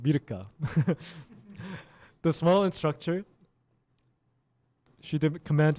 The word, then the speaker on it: Mirka: In Korean, it's pronounced Mirka.